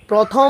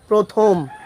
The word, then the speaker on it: প্রথম: পদ্য এভাবে ঠিক এরকম যদি আদ্য এর পরে যদি কি র ফলা থাকে তাহলে সেই তোমার সেই আদ্য এর উচ্চারণ কি হবে ও এর মত হবে যেমন প্রথম প্রধান এই যে পথে অ আছে এরপরে র ফল আছে এজন্য প্রধান না বলে আমরা বলছি কি প্রধান প্রথম না বলে আমরা বলছি কি প্রথম এভাবে আমাদের উচ্চারণ গুলো